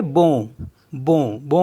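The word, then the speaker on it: bon: एन को बी ओ एन तो इसको पढ़ेंगे बो बो बो मीस होता है गुड एस ओ एन तो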